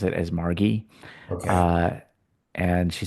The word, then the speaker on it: Margi: named Margie Kent, who I always called her Margie because it's spelled M A R G I, but I've heard her pronounce it as Margie.